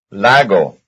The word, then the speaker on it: lago: Lago, quise. Yes, they have the same stress. It's on the first syllable.